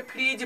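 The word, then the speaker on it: fridge: जैसे कि फ्रिज, ब्रिज, इस सब में जी से पहले डी क्या है? साइलेंट है।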